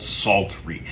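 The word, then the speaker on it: psaltery: it belongs in a very specific group called sultry it's spelled p-s-a-l-t-e-r-y now sultry is a group of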